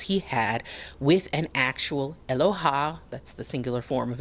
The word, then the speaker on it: Eloha: Sometimes the auto-generated stuff is funny to me, but she did say it like Aloha instead of Eloha. It's like it's Eloha, not Aloha.